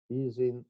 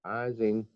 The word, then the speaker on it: Ising: a phd exercise for easing or ising both pronunciations are correct because the guy was gentleman and he moved to united states so pronunciation has changed um good in 1922